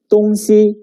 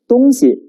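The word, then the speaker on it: 东西: look at the word if we pronounce it as tonsi it means two orientations the east and the west however when we pronounce as tonsi it refers to thing or stuff so neutral tone plays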